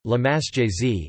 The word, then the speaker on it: La Marseillaise: La Marseillaise, French pronunciation, La Marseillaise, is the national anthem of France.